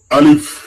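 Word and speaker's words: ألف: লক্ষ্য করুন আলিফ। আলিফ আলিফ এখানে লক্ষ্য করো। অনেকে কিন্তু টেনে বলে আলিফ। এটা কিন্তু ভুল। আলিফ। এভাবে বলা যাবে না।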